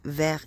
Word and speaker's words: Vers: vert je pense que ça se dit vert et ça s'écrit verse euh voilà comme ça